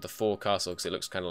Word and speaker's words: forecastle: I know it's spelled forecastle. This, when you're saying this, is pronounced forecastle. It's the bit at the front of the ship.